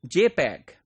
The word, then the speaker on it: JPEG: so for that what we use we use jpeg JP EEG this is pronounced as JPEG and this is standard developed